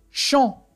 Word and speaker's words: champ: Champ. Oui. Oui, très bien. On voit la lettre P et on n'entend pas le son P.